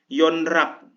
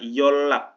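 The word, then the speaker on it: 연락: konsonan akhir berbunyi riul yonrak salah teman-teman pengucapannya yolak jadi double l solnal nah solnal ini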